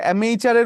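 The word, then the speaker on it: amateur: তো সেক্ষেত্রে অ্যামেচারের উচ্চারণটা আমের আচারের মতো, এবং আমের আচারের মতো যখন আপনি বলছেন সেটা আমের আচার মজা, ওয়ান who does things for pleasure.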